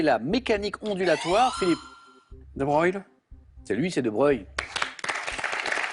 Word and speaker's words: Broglie: Alors le duc de Broglie, hein, les passionnés d'histoire le savent, ça se prononce Broglie, mais ça s'écrit Broglie.